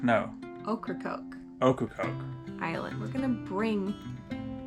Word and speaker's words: Ocracoke: Ocracoke. No. Ocracoke.